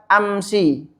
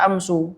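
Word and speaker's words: أمس: di kalimat tersebut ya amsi yang pertama enggak enggak bisa kita baca amsu Enggak bisa kita baca Amsa ya tapi amsi ya kita bahas apa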